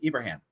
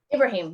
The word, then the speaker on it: Ibrahim: we have Gigi Abraham how do you say your last name Abraham Ibrahim yep and and it was close and Peter Yanni both